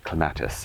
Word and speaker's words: clematis: And so, this is clematis as the British say.